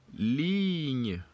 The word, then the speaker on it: ligne: Ligne. Ligne. Ligne. Good. So now we're obviously not going to pronounce the last E's for each of them.